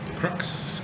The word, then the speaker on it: KRUX: in Las Cruces and is in charge of K-Rux, or how is it pronounced? Crux.